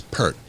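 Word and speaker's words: Peart: from canada right yeah is it pier or pert it's pert oh yeah for him i thought you know yeah i've seen people online reprimanded for pert i thought it was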